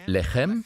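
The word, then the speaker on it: לחם: Es wird genau gleich geschrieben. Lechem. Lacham. Es wird nur anders ausgesprochen.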